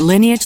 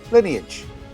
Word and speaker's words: Lineage: at Lineage Logistics. So there it is, Lineage.